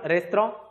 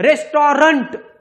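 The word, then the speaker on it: restaurant: लोक रेस्ट्रॉ असं म्हणतात इंग्लिश मध्ये बोलताना आपण रेस्ट्रॉ रेस्ट्रॉ असं म्हणायचं रेस्टॉरंट असं नाही रेस्टोरंट असं नाही रेस्ट्रॉ ओके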